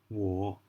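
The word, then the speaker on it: 我: so let's get started I in China is war we'll all war war war the third tones war and you is not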